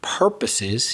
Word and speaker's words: purposes: improve juan's pronunciation of the word purposes he said talking across purposes so you stress the first syllable as we pointed out